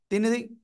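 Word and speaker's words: ت: কোন জায়গা থেকে উচ্চারণ হবে জানেন আপনারা? জিব্বার আগা। এই যে দেখেন, দুটো দাঁত, বড় বড় দাঁত, দুই দাঁতের গোড়ায় লাগাবেন, লাগিয়ে একালিফ টেনে উচ্চারণ করতে হবে।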